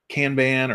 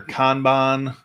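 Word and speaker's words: kanban: uh and we can which is a canban or conban uh depending on what your preference is for pronunciation but uh yeah we've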